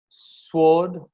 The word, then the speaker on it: sword: And some common words like answer, sword, to. The X is silent in this word for.